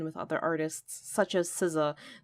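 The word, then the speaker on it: SZA: other artists such as Sousa that's spelled out s Z a schoolboy q and the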